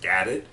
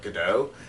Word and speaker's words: Gadot: I think her name is actually pronounced Gadot, not Godot, because Godot would be the French way of pronouncing it, and she's not French.